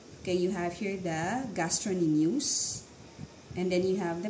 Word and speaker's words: gastrocnemius: so this one okay this is the okay gastronimus so silent c it's spelled as gastrocnemius but you should pronounce that